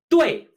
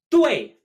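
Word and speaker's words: 队: 对, 对, pronounced just like correct.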